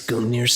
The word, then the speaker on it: Gungnir: Look at this word. No, this word is not pronounced. Gungnir. Gungnir. Gung-ho. Alright, what's this professor gotta say? Gungnir. Alright, sounds good.